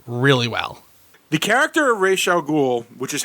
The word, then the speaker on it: Ra's al Ghul: The character of Ra's al Ghul, which is how it's pronounced in the comics, and even if you